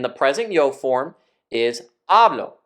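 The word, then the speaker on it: hablo: present yo form is ablo with the first syllable stress but the word ablo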